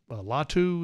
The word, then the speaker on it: Latu: Latu, is that how you say it, pronounce his name?